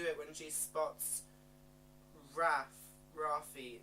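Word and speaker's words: Raffe: when she SP rap Rafi it's like Rafi in the book it's meant to sound like raw feet and I don't know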